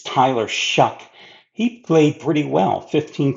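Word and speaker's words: Shough: Yes, Shuck is how you pronounce, by the way, his last name. It's not Shuff, it's not Shuff, it's Tyler Shuck.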